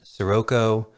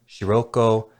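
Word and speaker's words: Scirocco: Whether you pronounce it Sirocco, Shiroko, Shirako, or Sirako, his last name is derived from the name of one of the Mediterranean winds, the hot wind that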